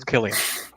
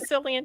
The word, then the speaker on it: Cillian: name Murphy Oh Cillian see I want to say Cillian but then I heard people call him Killians and I don't know how the hell to say his name Killian it's Killian okay see Killian well I